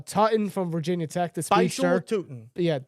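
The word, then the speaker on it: Bhayshul Tuten: This Bashel Tuton. Yeah, Toutton. There you go. Bashel Tuton. Bashel Tutin.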